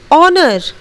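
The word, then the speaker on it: honour: Okay, next ऑनर, यहाँ पर भी हम लोग H का उच्चारण नहीं करेंगे. H will be silent letter and we will pronunciate ऑनर.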